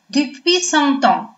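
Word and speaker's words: depuis cent ans: Следующая фраза у нас с вами читается вот таким образом. Depuis 100 ans.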